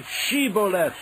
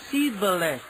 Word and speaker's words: Shibboleth: They said, All right, say Shibboleth. If he said, Sibboleth. Because he could not pronounce the word correctly, they seized him and killed him at the fords of the Jordan.